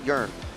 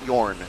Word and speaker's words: Jörn: His name is pronounced Jörn, not Jorn, as, well, I've been calling him for years, unfortunately. And this is Mr.